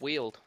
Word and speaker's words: WLD: our beautiful chat again wld pronounced wield maybe apparently short for the word wield we'll try keep it